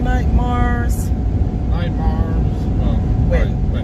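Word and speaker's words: Wynne: Win. It's not like Winnie, it's just win.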